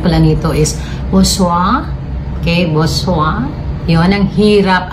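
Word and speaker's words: Boursin: So ang kung babasahin natin bosen, Borsen. At ang tawag pala nito sa ang right pronunciation pala nito is Bosoa.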